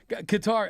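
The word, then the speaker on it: Qatar: that is that like the only disagreement we have is how to pronounce it. Yeah. I'm a I'm a guitar guy. Are you a guitar guy? No, you're going cutter, though. I I like cutter.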